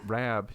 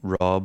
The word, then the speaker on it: Rab: i' never really thought RAB you know um I do find a lot of folks from the states do call me Rob or they they can't pronounce the ab the RAB but I don't know